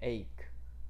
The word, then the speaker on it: ache: 我们听一下它的发音 21 ache。好，提醒各位这个 CH 在这边发克的音，我们念 ache。